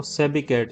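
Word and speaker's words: sobriquet: एंड the synonym of सोब्रिकेट, या इसका जो प्रोनाउंसिएशन है वो सेबिकेट है, तो इसका सही ऑप्शन है निकनेम।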